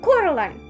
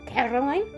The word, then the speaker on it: Coraline: name wrong you know they kept saying coraline not caroline not caroline at all he picked up a